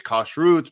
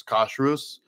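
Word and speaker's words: כשרות: because the uh in in Hebrew it's kosut but in ashkanazi dialect they they turn the the T sound into an S sound so so it's Kus or Kus uh kud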